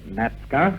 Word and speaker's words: Natzke: Now, in the past, although we've pronounced your name as Natska, it's always been spelled Natzke.